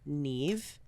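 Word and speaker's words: Niamh: say sira Ronin so I also know how to pronounce the the name Neeve oh yes you have a friend Neeve friend named Neeve I know that it is not spelled with any of the letters you think it's spelled with except for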